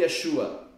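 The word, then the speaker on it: ישוע: de u shua yua quantas sílabas tem o nome Yeshua não é o número de sílabas tem a ver com o número de vogais tem duas sílabas não tem três tem querer di Glória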